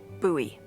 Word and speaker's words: Bowie: It's actually pronounced Bowie. What? No, it's like the last name, like David Bowie. Different last name.